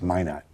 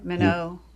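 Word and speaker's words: Minot: but that was really it's Min not yeah Mano Mano North Dakota that's the French pronunciation yeah we Americans call it Min not here I see okay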